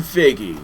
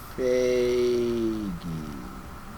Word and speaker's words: Feige: Executive producer Kevin Feige.